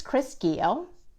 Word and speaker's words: Keogh: for retailers and makers my name is Chris Keogh like Rio with a hard G and I am an